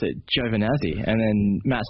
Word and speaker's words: Giovanazzi: says it he says Joe vanazzi which is the australianized version of it because um I'm pretty